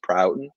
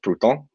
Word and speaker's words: Prouten: My last name is pronounced Prouten. It is technically French, but it is bastardized by the English. So if you're Parisian, you could probably get away with Prouten. But we're gonna go with Prouten.